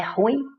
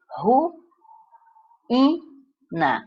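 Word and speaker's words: ruína: Você está vendo de cara que o I tem acento agudo, então quer dizer que ele é pronunciado separadamente do U, não é ruim, é ru, ina, o que já nos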